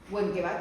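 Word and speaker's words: Wenckebach: Benkebach se escribe, pero se dice Benkebach, y no pasa nada.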